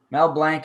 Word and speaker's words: Mel Blanc: Mel Blanc is how it's pronounced, is what he's saying.